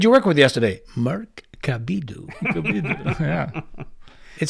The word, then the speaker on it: Cabiddu: Cabiddu, but in Italian you pronounce my last name Cabiddu.